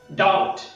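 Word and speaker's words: doubt: बी is silent letter whenever it is used as to before T. शब्द बघा डाउट, डाउट, डाउटफुल, डाउटफुल, subtle, subtle, सटलटी, सटलटी, date, date, debtor, debtor, डेटरशिप, डेटरशिप.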